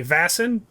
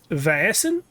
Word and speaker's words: Vaesen: to this uh but I have heard people say vassen on other shows and I looked it up on the old Google translate and I got almost three syllables out of it it was like viason which uh it's Swedish so maybe uh we're just